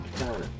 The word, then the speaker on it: Katana: Is that how you pronounce her name? Katina? No, it's an A. It's gotta be Katana.